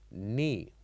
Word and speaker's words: knee: And when we say it, we pronounce it as knee, knee. So the K here is silent.